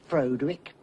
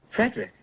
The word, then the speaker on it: Frederick: Do you also say Froderick? No, Frederick. Well, why isn't it Froderick Frankenstein? It isn't. It's Frederick Frankenstein. I see.